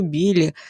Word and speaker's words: білі: міткі мухомори синяки Біляки і просто білі з наголосом на другому складі рвуся в бій всіма